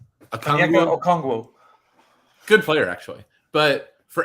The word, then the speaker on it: Okongwu: his name, Atlanta guy, Onegwu, I think you said it was. Did I get close? Okongwu.